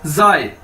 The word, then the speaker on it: zai: तो अगर आई लग गया है तो इसको कैसे बोलेंगे, जाए, जाए, ZAI, जाए।